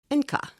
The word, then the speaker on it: Enka: Soon the motto is abbreviated to the letters N and K, which pronounced in German is ENKA, E-N-K-A, the name they use today.